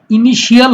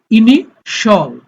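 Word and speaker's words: initial: ইনিশল, ইনিশিয়াল হবে না, ইনিশল।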